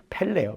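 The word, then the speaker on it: פֶּלֶא: 첫 번째 시작하는 단어는 의미가 경의로운 놀라운 놀라운 일들 경의로운 일들을 의미하는 펠레요. 펠레. 펠레. 음. 브라질에 있었던 유명한 축구 선수는 똑같네요. 뜻이 아,이 발음이 펠레.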